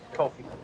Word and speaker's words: Ko-fi: Kofi.